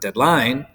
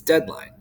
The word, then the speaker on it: deadline: by unstressed deadline right it's not deadline it's deadline um unstressed unstressed stressed